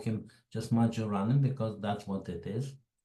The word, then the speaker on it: Majorana: Now, how do you pronounce his name? The Italians will pronounce it Majorana, and I checked that they call his name Ettore Majorana. But the very first podcast, the American podcast, they call him Majorana, and I suspect everybody